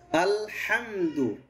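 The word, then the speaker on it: الحمد: আচ্ছা, লামটা খেয়াল করুন, আল হবে আল, এরকম না আল, এরকম বাঁকায় কেন ধরেন, আর সোজা ধরেন আল, হ্যাঁ আল আল। ওই যে আমি কি বলছি বুঝতে পেরেছেন সবাই? এই যে আমরা অনেক সময় স্টাইল করবে আল, এই যে আল এরকম না, সরাসরি ধরবে আল।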